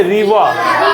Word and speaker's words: river: RIVER, इसको क्या पढ़ेंगे, रिवर। तो रॉ को जो है ना लास्ट में प्रोनाउंस नहीं करते, रिवर रिवर रिवर रिवर, ठीक है।